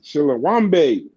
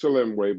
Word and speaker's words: Chilemwe: Chilawambe. I know that's not how you pronounce it, but that's how I do. Shalom way. I know it's Chilemwe, but Chilawambe just sounds so smooth and clean.